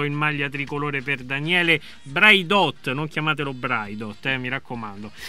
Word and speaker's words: Braidot: La seconda, Braidot. Braidot, ok, perché qualcuno lo pronuncia con l'accento.